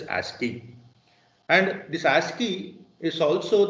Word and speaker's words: ASCII: code for information interchange normally they are pronounced as asking and this ASCII is